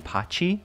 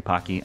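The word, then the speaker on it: Pacci: how to say this i've always said pocky but it might be pachy like a like a chip like a like an italian i'm not like an italian like like an italian pronunciation is what i'm trying to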